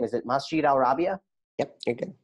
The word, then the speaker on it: Masjid al-Rabia: You're the executive director of, I'm going to mispronounce the name, is it Masjid al-Rabia? Yep, you're good. Masjid al-Rabia.